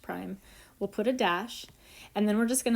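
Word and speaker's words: ′: This little apostrophe looking thing is pronounced prime.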